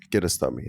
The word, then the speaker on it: Kiarostami: Kiarostami, right?